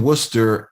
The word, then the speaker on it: Worcester: i was up there i was in worcester and i think i pronounced that correctly it's certainly not how it's spelled but i was in worcester and they did something